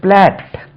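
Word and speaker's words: plait: ஒரு வேர்ட் இருக்கு பி எல் ஏடி பார்த்தா இதுக்கு உச்சரிப்பு ஒரு மாதிரியா இருக்கு இது பிளாட் பிளேட் மாதிரி இருக்கு பிளாட் அப்படின்னா சடை பெண்கள் பின்னி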